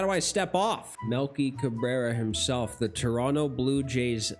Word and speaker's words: Cabrera: Milky Cabrera himself. The Toronto Blue Jays legend. Mey Cabra Cabrera.